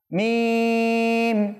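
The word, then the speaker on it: ميم: তো আমরা যখন মিমটা উচ্চারণ করব উভয় ঠোঁটের শুকনো অংশ মিলিয়ে দিব, তারপর মিম বলবো, অটোমেটিক এটা হয়ে যাবে। দেখেন মিম দেখেন এভাবে, ঠিক আছে?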